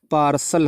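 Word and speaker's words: parcel: और उससे पहले PAR लिखा है तो क्या हो जाएगा, ठीक है, पार्सल हो जाएगा।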